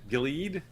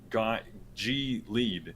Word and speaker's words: Gilead: Gilead. I think Gilead. Yeah. Gilead. That feels right, but English is a weird language because technically it's G lead.